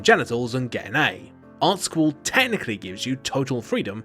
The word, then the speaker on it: Art Sqool: game about that stuff in art school which yes is pronounced that way you've got to draw